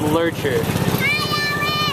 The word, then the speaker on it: Loertscher: And yes, that is pronounced Loertscher.